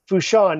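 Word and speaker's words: Port Fourchon: And no doubt the big oil facility there in the port there, I forget how to pronounce it. Fushan. Fushan, yeah.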